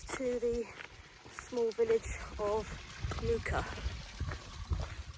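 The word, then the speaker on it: Muker: So quite close to the small village of Muka. If you look at that on a map, it reads as Mucka, but that's not how you pronounce it.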